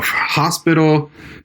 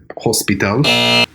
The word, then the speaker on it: hospital: It would be hospital. Almost. Hospital. No, very close. But you know where your mistake was? What? So the H is hardly ever pronounced in Spain. Oh, okay. It's called an aspirated H.